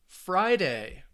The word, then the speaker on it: Friday: Friday, perfect. Days of the week, Friday, stresses on that first syllable. So most 2-syllable nouns, the stress is on the first syllable.